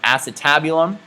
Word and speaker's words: acetabulum: first time i'm making a video where i pronounce it correctly so it is called the acetabulum and then last structure i'd like to point